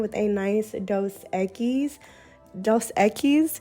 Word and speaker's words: Dos Equis: a nice dose eggies dos equis is how you pronounce it but only do that